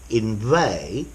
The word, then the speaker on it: inveigh: words for your vocabulary inve notice the G is silent and inveigle the G